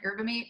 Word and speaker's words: yerba mate: It's like the Y is silent, yerba mate.